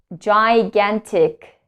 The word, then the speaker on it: gigantic: So in this case, the words also start with the letter G and is pronounced like J. J. Giraffe, giraffe, giraffe. Gigantic.